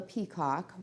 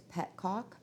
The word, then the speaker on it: petcock: It's called a Petcock, which actually looks like it's Petcock, but I guess it's a French word, so it's pronounced just a little bit differently.